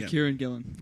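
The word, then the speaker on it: Kieran Gillen: Gillan I hope I'm saying that right yeah Kieran Gillan Kieran that's how you say it yeah like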